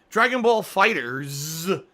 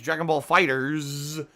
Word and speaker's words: Dragon Ball FighterZ: But hey, Dragon Ball FighterZ is supposed to be Dragon Ball Fighter Z, which would make more sense, but instead they say it's Dragon Ball Fighters.